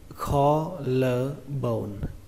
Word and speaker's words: collarbone: Từ này các bạn đọc là collarbone. Trọng âm của từ này rơi vào âm đầu tiên, âm kho.